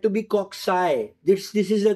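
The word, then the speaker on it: cocci: be as cxus cxus or coai don't say cocki no they are coai my teacher sir nanman he told us the name of this bacteria they are said to be coxy this this is a correct pronunciation and I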